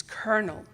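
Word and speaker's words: colonel: the correct pronunciation is kernel certain she was reading on the wrong line I said but there's no R with a kind smile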